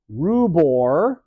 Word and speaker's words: rubor: It comes with rubor. Sounds like the word ruby.